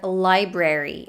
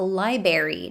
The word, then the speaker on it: library: dropped next we have the word library which sometimes might be pronounced as a library dropping one of the r's but this r is supposed to be there it might be dropped